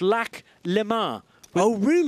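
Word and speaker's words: Lac Léman: Lamar but actually the the local name of Lake Geneva if you live in that area is lack Le maroon with the accent on the E and it is perfectly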